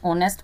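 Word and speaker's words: honest: ही is blank space ऑनेस्ट person. ऑनेस्ट मतलब H silent है, ऑनेस्ट आ रहा है मतलब ये वोवेल यूज हो रहा है, वोवेल साउंड आ रहा है इसमें।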